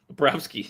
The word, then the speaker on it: Bobrovsky: that's why we don't pronounce Bob's full name for the Florida Panthers. We just Bobrovsky? call him Bob. Bobrovsky.